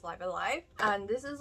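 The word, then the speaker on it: Live A Live: Live Alive, before I completely forget about it, because I did have to YouTube how to say this because I thought it was like Live Alive, but no, it's Live Alive.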